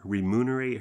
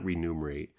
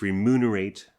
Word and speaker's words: remunerate: Uh we thought, do we need to pay her, remunerate her, which is the correct pronunciation, by the way. It's not renumerate. I Googled it. I thought it was renumerate for 47 years of my life, too.